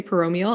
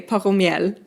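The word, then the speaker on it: Poromiel: So it's so funny every time you say Paromial, I'm like, oh yeah, that's how you say it, because my brain wants to say Paromiel every time I read it, but then you say it properly. I think I'm saying it properly. I would think so. My brain just switches to French when I see the word.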